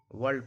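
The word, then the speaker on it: world: अगर आर के पहले वॉवेल्स हो, आर के पहले वॉवेल्स हो तो आर का उच्चारण नहीं होता है। वर्ल्ड पढ़ा जाता है, वर्क पढ़ा जाता है, वर्क नहीं बोला जाता, वर्क।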